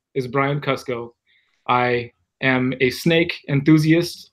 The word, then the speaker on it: Kusko: channel called Brian Kusko, Kusko, pronounced Kusko. Never Kusko unless you want to get on my really bad side or my cousin's really bad side.